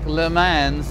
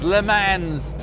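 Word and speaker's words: Le Mans: L man's GTO convertible now some of you may be screaming at the screen at how I pronounce that word but this is America how would you pronounce that word in America you just pronounce all the letters Lans and you pretend that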